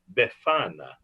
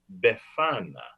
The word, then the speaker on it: Befana: Befana. Can you say that with me? Yeah, say it with me. Befana. Befana. Say it like you have a slight accent.